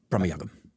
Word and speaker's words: Bramayugam: Bramayugam. Yeah. Bramayugam. How would you pronounce that?